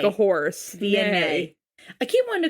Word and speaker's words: Vianey: Vianey. Vianey and Alan from season 7, episode 20. Yes. Vianey. Vianey. Via. I'm going to write via, like via a transit. Via nay. Like a horse. Vianey.